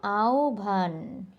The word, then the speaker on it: আহ্বান: ভলে আও ভার আহ্বান তাহলে আমরা এখন থেকে উচ্চারণ করব আহভান এটা আহ্বানও হবে না আহ্বানও হবে না সঠিক